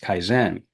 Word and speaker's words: kaizen: Now, if I can pronounce this correctly, the continuous improvement pillar of lean is pronounced kaizen.